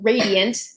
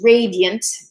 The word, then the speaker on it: radiant: rare and radiant maiden so radiant can be pronounced Old English radiant almost as two syllables or radiant with the extra unstressed syllable maiden whom the angels